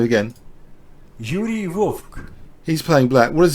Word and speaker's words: Vovk: So Yuri Vovk, I'll pronounce his name again. Yuri Vovk.